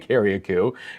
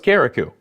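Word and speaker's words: Carriacou: I've been saying it I've been saying Kaku and then someone said no it's caraku so obviously there are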